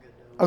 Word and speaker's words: Godot: Pretty sure it's pronounced Godot. Okay, Godot, thank you.